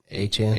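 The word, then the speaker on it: Achane: Our how's he pronounce again? Achan. Aan.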